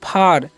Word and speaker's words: far: तो इसे हम क्या पढ़ते हैं, इसे हम पढ़ते हैं फार, है ना, फार पढ़ते हैं। ओके, देखिए AR रहेगा तो उसका उच्चारण, देखिए ए का उच्चारण यहाँ पर क्या होगा, आर हो रहा है।